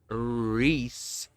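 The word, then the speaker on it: Rhys: Reese is spelled R H YS Welsh way.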